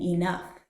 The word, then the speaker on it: enough: how grateful I am listen for the F sound in enough I can't thank you